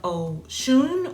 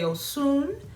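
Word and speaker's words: Osun: Alongside the uh oracle message, we are using the deck from faces of oon or some say osoon depending on your uh I guess region is how you pronounce it.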